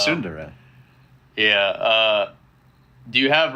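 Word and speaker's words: tsundere: u n d e r e it's like sundari sundari like like evil anime girls yeah yeah that's how you say it's no way maybe in Japanese but it's sundara yeah uh do you have ratings where it's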